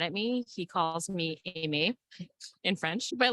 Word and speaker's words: Aimee: In France, it's pronounced Amy, right? But I was born in the United States, and so it's Amy, and it's spelled the French way, so AIMEE.